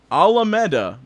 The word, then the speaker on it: Alameda: The pronunciation is within the super chat. It's Alameda, by the way.